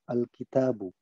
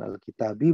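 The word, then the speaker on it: الكتابُ: Jadi semua kosakata isim mufrad terutama isim yang berjumlah satu itu sebelum kita fungsikan ke dalam kalimat kita bacanya adalah u. Alkitabu. Bukan alkitabi, bukan alkitaba. Tapi adalah alkitabu. Jadi ini adalah posisi netral.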